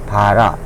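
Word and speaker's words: בָּרָא: 그래서 이렇게 쓰고 요 알렙은 음가가 알렙해서 이응인데 끝에 오면 발음하지 않는다. 그래서 그냥 바라.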